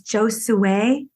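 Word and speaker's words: Giosuè: Gio Gio oh red g i o s u e with the accent on the E if the accent's not there it's not the same name sure yeah where did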